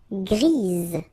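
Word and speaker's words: grise: for the feminine form grease. Remember grease. All right. So when you add this uh basically it gives you the pronunciation or the possibility to pronounce the previous letter here.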